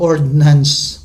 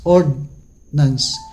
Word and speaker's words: ordnance: Ang nabanggit naman natin na ordinance, ang pagkakaiba dito is walang I or D. I yun lang pagkakaiba ng letters. Kaya pag i-pronounce mo yun halos magkakalapit lang talaga. Ordnance. Ordnance.